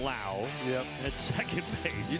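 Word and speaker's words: Lowe: left to right and remember it's spelled the same but it's Brandon la yep at second Bas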